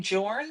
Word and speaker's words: Jorn: Is that his name Jorn, or is that's a totally different? It's Danish. It's actually pronounced Jorn, but it's Jorn.